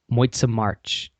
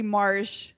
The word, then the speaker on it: Mars: pronunciation it was good just the last name is actually Marsh Marsh marshmallow that's easy to remember marshmallow yeah that's that's way